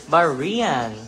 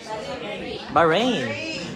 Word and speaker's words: Bahrain: May God bless everyone from Baran. Bahrain. Oh Bahrain. My mistake from that. My mistake from that pronunciation but at least I try that.